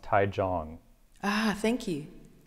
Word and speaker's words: Taichung: Apparently it's pronounced Taichung. Ah, thank you. Taichung.